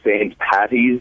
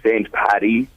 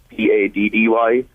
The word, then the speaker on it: St. Paddy: A lot of people pronounce it St. Patty's Day, like Patty, St. Paddy, Paddy.